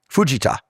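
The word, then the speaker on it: Fujita: Canaro Fuja, Fuja he told me is the correct pronunciation.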